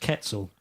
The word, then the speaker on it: quetzal: saw shouting at a video on youtube it's pronounced quetzal quetzal which is a shame if that's the case and what is a ketzel it's a bright green bird okay and what's